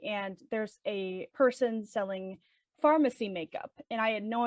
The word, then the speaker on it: Farmasi: Most people are probably being like pharmacy. It's It's spelled Farmasi. Not to be confused with the company at Sephora that's also pronounced Farmasi.